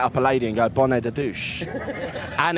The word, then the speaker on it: bonnet de douche: But every French person I've tried it with, I must be pronouncing it wrong. No, it's that's good.